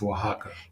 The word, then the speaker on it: Oaxaca: Yes, and I cannot pronounce that place, but I think it's Oaxaca. in Mexico. It's Oaxaca.